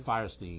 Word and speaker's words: Fierstein: She did Harvey Firestein from, am I pronouncing his name right? Is it Firestein or Fierstein? Firestein. Firestein.